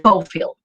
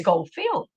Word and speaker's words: Schofield: Schofield. Excellent. Perfect. Because field, I know that word, right. Schofield.